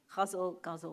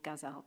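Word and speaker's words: ghazal: the traditional form though guzzle or gazelle depending on how you want to pronounce it so our next reader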